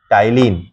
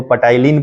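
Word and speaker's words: ptyalin: तो टाइलिन, कितना बच्चा इसको पटाइलिन पढ़ लेता है, तो पटाइलिन नहीं पढ़ना है, ठीक है ना, टाइलिन पढ़ना है। ओके, तो टाइलिन पी साइलेंट रहता है।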